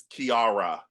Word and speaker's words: Kiara: So it's Kiara.